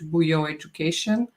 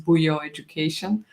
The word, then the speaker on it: Bujo Education: It's exactly how you read it in Serbian language, Bujo Education.